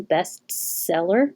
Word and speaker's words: best seller: really difficult to make between the two s's best seller so just skip it best best seller best seller make the s sound a little longer certainly the same as